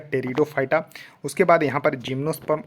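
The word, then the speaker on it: Pteridophyta: देखिए थैलोफाइटा ब्रायोफाइटा टेरिडोफाइटा यहां देखिए पीस साइलेंट है तो इसको पढ़िएगा टेरिडोफाइटा उसके बाद यहां पर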